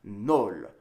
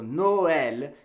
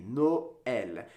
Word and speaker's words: Noël: word would be pronounced Nol, which doesn't exactly sound pretty, and that's not a word. So Noël, you break up the vowel sounds and pronounce each vowel independently. Noël.